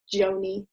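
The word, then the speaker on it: Gjoni: um so somebody called aaron joney i think you pronounce it joanie um wrote a blog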